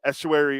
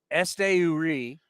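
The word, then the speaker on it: Esteury: bases last year hitting 25 home runs uh Estuary or no I'll let you say it how do you say his name Este URI Ruiz he sold 86 total bases last year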